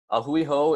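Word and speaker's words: a hui hou: saying farewell to somebody this is very easy to pronounce - ah Hui ho is three separate words so it's gonna be aa Hui and then ho so if you guys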